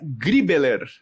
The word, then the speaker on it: Griebeler: só de ouvir e Bruna griebeler pronunciei certo Bruna muito perfeito inclusive até estranhei porque